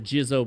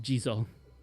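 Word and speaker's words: Jizō: The Gizo blessing, which I know it's pronounced Jizo.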